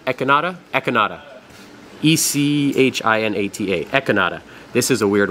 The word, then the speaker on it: echinata: a farm this is acropora and I'm gonna butcher the name enchinada enchilada echinata econada e-c-h-i-n-a-t-a echinata this is a weird one this is